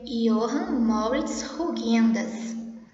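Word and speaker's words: Johann Moritz Rugendas: O nome desse pintor aqui se pronuncia Johann Moritz Huygens.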